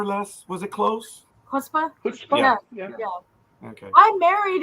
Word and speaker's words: chutzpah: So, did I get the pronunciation more or less? Was it close? Chutzpah?